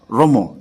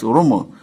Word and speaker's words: Rumu: And then some other clans also call it Rumu, like Ikwerre does theirs, Rumu, because Ikwerre has more arrow in their pronunciation, in their linguistic.